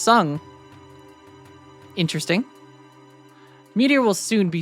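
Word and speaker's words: Tseng: His name is pronounced Sung.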